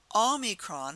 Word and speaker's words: Omicron: Omicron has the ah sound. It's that soft ah. It's not the hard O, it's the soft ah. So repeat after me. Omicron.